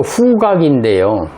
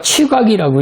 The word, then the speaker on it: 후각: 이게, 이거 후각인데요. 한문이 깊은 분들이야 뭐 이런 거 쉽게 알 수 있는 거지만, 그렇지 않으면은 이자하고 혼동할 수가 있어요. 이게 취자거든요. 냄새 취자란 말이죠. 그러니까 후각하고 이게 취각이라고 읽으면 안 된다는 거죠.